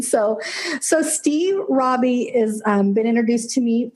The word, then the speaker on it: Raabe: us your last name my last name is Robby are a a ve awesome Steve Robbie so apologize for that